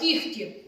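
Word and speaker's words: кігті: плюс глухий стоїть кігі запам'ятайте цей звук буде вимовлятися як звук х сказали кіхті кіхті в усіх цих словах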